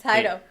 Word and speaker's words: Heido: I look at your staff and even look I know that Haro, I would say his name wrong. It's okay. It's Heido. Heido.